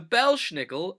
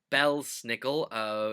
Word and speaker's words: Belsnickel: about the Belsnickel so the Belsnickel or Belsnickel you'll hear both pronunciations in Pennsylvania Dutch country is our version of